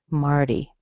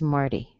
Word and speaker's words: Marty: In this case, the T is completely different. It's been softened, Marty. So the nickname for Martin is Marty.